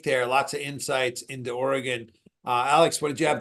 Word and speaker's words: Oregon: right great take there lots of insights into Oregon Alex what did you have to add to that so I like I I really like Cam's points on how orgon's clicking at the right time or orgon there's